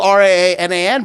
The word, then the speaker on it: Raanan: I really, it could go either way because it's a Hebrew name. And you have to have that guttural. And without the guttural thing, technically it's spelled Raanan, but here's the boring reason. Ranaan, I guess, is if you look it on the page. There is no... Two A's doesn't have a thing in English.